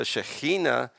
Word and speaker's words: Shekinah: The Shekinah, or the Shekhinah, in a Hebraic pronunciation, is a feminine word, and it talks about the feminine aspects of the Holy Spirit.